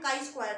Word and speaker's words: chi-square: तो इसको आप डिनोट ऐसे करते हैं और इसको प्रोनाउंस करते हैं काई स्क्वायर टेस्ट, ठीक है।